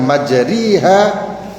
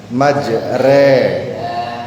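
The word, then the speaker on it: مَجْرٰىهَا: waqarkabu fiha bismillahi majraha itu harusnya majriha tapi karena terkena bacaan imalah maka Dibacanya bukan majriha atau maj'ro ha tapi diambil tengah-tengahnya majre. Ha bukan majriha, bukan majroha tapi maj re.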